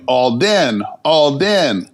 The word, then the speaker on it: Olden: Do not pronounce H's. So in my ear, I'm hearing Alden. I'm not hearing the H. So I just started writing my name with an O.